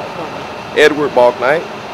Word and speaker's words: Bouknight: Say your name and spell it for me. Edward Balknight.